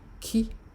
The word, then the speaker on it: K: The next letter, ki, not ki. This is your K in English, but it's pronounced ki in Yoruba.